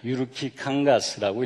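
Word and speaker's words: Jyrki Kangas: 이름은 읽기도 어려운데 이름은 이게 유르키입니다. 유르키 캉가스라고 읽으시면 돼요.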